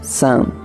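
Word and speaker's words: 伞: La palabra china para paraguas se pronuncia san.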